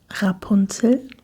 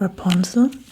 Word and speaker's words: Rapunzel: It is a hard R in the back. That's probably very hard for you to pronounce, because you are pronouncing the R in front of the mouth, and the Germans most of the time are very richtig, rolling the R in the back of our throats.